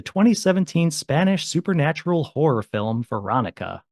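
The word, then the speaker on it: Verónica: Tonight's film is the 2017 Spanish supernatural horror film Veronica, or how do you say it, Stacy? Veronica. Oh, so much better.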